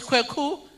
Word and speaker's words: Kweku: It's Kweku. I thought Nancy, your sister maybe. So I saw Kweku, but I saw Y. So I thought Kweku has breathalyzed to Kweki. Because I have seen Kweku called Kweki before.